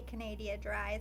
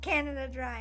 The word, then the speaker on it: Canada Dry: anyway Canadian or Canada I say Canadia dry so I always up and I make it my own thing and I try to say it right and everyone's like Canadia dry I'm like Canada Dry I'm sorry but when